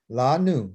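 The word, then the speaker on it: לנו: La nu.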